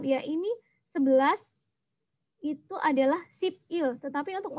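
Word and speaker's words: 십이: ini 11 itu adalah sipil, tetapi untuk membacanya itu disambung ya, sibil. Begitu juga dengan 12, sipi, bacanya adalah sibi.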